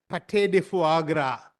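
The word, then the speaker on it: pâté de foie gras: in the sense that you will need to pronounce the word as Pate de Fu Agra it's a French delicacy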